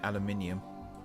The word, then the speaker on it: aluminium: You say aluminum, we say aluminium. It's amazing how one letter can change the entire pronunciation of a word.